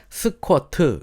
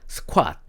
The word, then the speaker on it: 스쾃: 쪼그려 앉기 라는 의미인데 한국식 발음으로 스쿼트 라고 하면은 외국인들은 알아 듣지를 못합니다 그래서 원래 정말 좀 이렇게 외국인도 알아야 들을 수 있는 발음으로 표현을 하면 스쾃 이렇게 해야 되요 스콰 빽 스콰 프론트